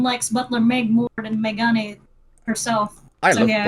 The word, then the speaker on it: Megane: So Megane, that's how you pronounce it.